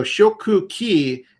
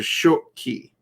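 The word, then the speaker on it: 食器: shoku ki and i there's something in the language but they don't want to repeat that sound like the 2ks a lot of i mean they do in some words but they try to minimize it so then it just collapses into short key oops what happened there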